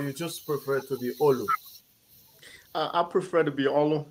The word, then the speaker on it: Olu: but the right pronunciation is Olu. I'm a Yoruba man.